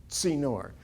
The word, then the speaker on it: Tzinor: A Tzinor, the dot means it's pronounced like T-S-I-N-N-O-I, the Hebrew letter tzadeh, which is Tzinor.